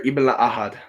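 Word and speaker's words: Ibn-La'Ahad: Can you pronounce Altair's last name? No, and I'm not even gonna try. Altair Ibn Ahad.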